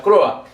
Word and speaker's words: Croix: En 1784 las intendencias bajo el gobierno del virrey Teodoro de Croix, o la Croa, se pronuncia Croa.